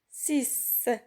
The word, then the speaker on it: six: Six. Regardez ici, la lettre X se prononce S.